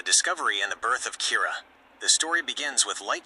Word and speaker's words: Kira: As criminals begin dying of unexplainable heart attacks, the public dubs this mysterious killer Kira, the Japanese pronunciation of killer.